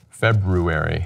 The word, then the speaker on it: February: to pronounce them correctly there's an R there it's not silent and eventually I know